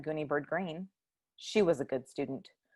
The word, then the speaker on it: Greene: is gooney bird green that's green with a silent e at the end and i just moved